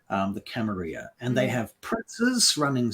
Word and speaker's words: Camarilla: camarilla depending on who you ask but properly pronounced camarilla um these vampires represent the hierarchy the status